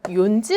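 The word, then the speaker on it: 四時: 우리 는 4 시 를 " 요지 " 라고 발음 하고 싶고 , " 요지 " 가 " 욘지 " 보다 발음 하기 쉽습니다 . 중간 에 "n" 이 있는 것 보다 낫습니다 . 그래서 " 요지 " 로 바뀌었습니다 .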